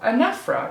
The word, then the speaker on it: anaphora: your study of literature, this is anaphora, or anaphora is how it's supposed to be pronounced, but I never say it that way because I like to remember how to spell it.